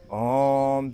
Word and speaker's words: ओम: पहले ओ का उच्चारण होता है। उसके बाद सूक्ष्म रूप से उ का होता है और लास्ट में मैं का लंबा उच्चारण करते हैं।